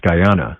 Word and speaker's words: Guyana: It's pronounced Guyana.